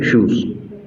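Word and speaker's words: Schutz: Alfred शूज एस सी एच यू टी जेड T silent है शूज।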